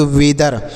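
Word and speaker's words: weather: टी एच ई आर तो डब्लू से लिखेंगे व ई ए से ए की मात्रा लिखेंगे और टी एस से लिखेंगे दो ई का उच्चारण नहीं करेंगे आर से हो गया र तो इसे पढ़ेंगे वेदर इसे वेदर नहीं वेदर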